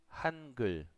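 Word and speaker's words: 한글: Hangul. Así es como se escribe y así es como pronuncia.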